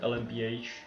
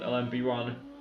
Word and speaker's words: LMP1: It depends on how you say it. The game calls it LMPH. Most people call it LMP1.